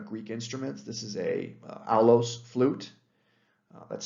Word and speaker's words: aulos: This is a aulos flute. That's spelled A-U-L-O-S.